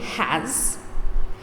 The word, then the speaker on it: has: we have they have remember the letter as in has is pronounced like z zoo like the zoo what is the past